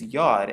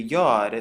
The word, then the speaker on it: Yod: And it is commonly known as the Yod, so it makes the Yuh sound. It's pronounced just like the letter Y.